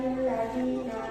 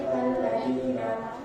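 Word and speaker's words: الذين: Alladzina iwan di awal kalimat tidak boleh dibaca lilladzina tapi alladzina.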